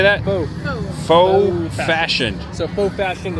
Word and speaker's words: faux: Looks like they got a lot of cocktails, wine, half wine bottles, mocktails, Fox, or How do you say that? Faux.